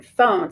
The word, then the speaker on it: phone: But we know that you do not hear the E in phone, so we're going to mark through it and it is silent.